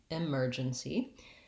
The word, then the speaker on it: emergency: We have second syllable stress in this word, and that means that my mer syllable is long and stressed, and my first syllable, the letter E, sounds like an I. It's an unstressed I sound, I, emergency. And I'm unstressed at the end of the word in the NC part as well.